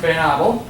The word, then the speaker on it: Van Abel: My name is Van, it's actually pronounced Van Abel. Okay. That's just the Dutch messed that up many years ago.